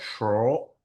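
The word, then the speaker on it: schorl: pronounce this ever so I think it's called shorel it's hard to say it's like s c h o o r l okay but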